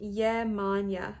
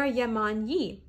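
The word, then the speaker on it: Yemanjá: It is pronounced Yemanya. Oh, I am pronouncing it right. Or Yemanyi.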